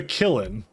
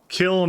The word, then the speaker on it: kiln: Still pronounces it wrong. No, I'm saying he said killin. Kiln is the thing I'm supposed to say it as.